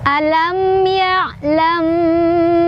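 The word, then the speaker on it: ألم يعلم: Cara bacanya didengungkan. Jadi alam ya'lam.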